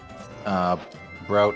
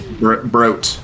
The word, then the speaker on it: Broat: Looks like Broat is Broat or Bro is, sorry, remind me again how it's pronounced. I'm so sorry. Broat. Never don't say bro. Broat is fine.